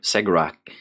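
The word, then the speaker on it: Cegorach: And they do this to emulate and pay respects in some way to Segrak, their patron god. Oh, I'm glad you were pronouncing that with a S sound, because I was going to do that.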